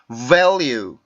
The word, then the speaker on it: value: 자, 그러면 한번 발음을 해볼게요. value, value, value, value, value, value.